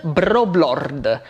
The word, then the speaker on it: Broblord: In Italian the letter R is rolled, so it would be Lord Broblord. But I have a fair bit of rhotacism, and I find it difficult to roll my R's in normal speech. Thus, I can't even pronounce my own nickname in my own language.